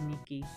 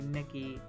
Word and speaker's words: Nikki: And I know people were comparing the Cocoppa dolls to Love Nikki, and I want to make sure that I'm pronouncing it correctly, because I always want to say Nikki, but it's Nikki.